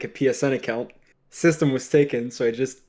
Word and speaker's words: svstem: subwoofer uh company and i pronounce it tam so it's gonna be like a two-part but but no what do you want to be uh system only system the reason why i